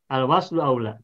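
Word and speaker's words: الوصل أولى: Al-waslu aula. Nah, jadi ini bacanya bukan sili. Kalau yang dalam Al-Qur'an ini tanda wakaf ini bukan dibaca sili, tapi al-waslu aula.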